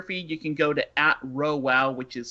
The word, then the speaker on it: RhoWow: my personal Twitter feed, you can go to @RowWow, which is spelled RHOWOW.